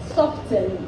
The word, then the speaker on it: soften: Soften, the T is silent, it is soften.